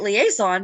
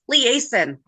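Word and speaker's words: Liason: know how I'm saying it so I've been pronouncing it liaison because that's close to the spelling of the word liaison it's liaison oh for some reason it came up oh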